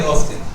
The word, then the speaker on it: often: American often. It has the two types of pronunciation, often and often. They are both acceptable.